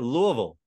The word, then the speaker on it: Louisville: got to make this people usually screw up on the they want to say Ville still and it just sounds like that you do the second